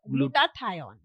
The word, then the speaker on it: glutathione: I can't spell it well but it's glucoine glutathion glutathione.